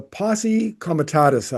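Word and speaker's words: Posse Comitatus: So the one of the um guard rails is the Posi Kamatus Act. Have I pronounced that correctly?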